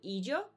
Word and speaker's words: illo: the situation, is with the word ijo, which is ILLO.